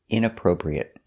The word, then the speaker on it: inappropriate: our next word is inappropriate inappropriate stresses on the inappropriate the first and third syllable inappropriate inappropriate inappropriate is